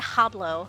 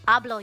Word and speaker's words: hablo: So if like yablo English I said habau oh god it's ablo. You don't pronounce the h ethan.